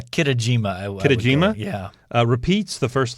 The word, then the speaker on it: Kitajima: 2008, Japanese swimmer Kusuke Kichima. How'd I do? I mean, Kitajima? Yeah, Kitajima.